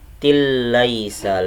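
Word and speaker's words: لَيْسَ: Jadi bacanya aniyatil laisa lahum, aniyatil laisa lahum, seperti itu. Tilla laisa, seperti itu bacanya. Ayat yang ke-6, laisa ada ya sukun didahului sama fathah, hukumnya adalah mad layyin dibaca lunak. Laisa.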